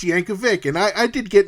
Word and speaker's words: Yankovic: very adamant that it was pronounced Yankovich and I said I don't care how you pronounce it this guy's actual name is pronounced yanov Vic and I I did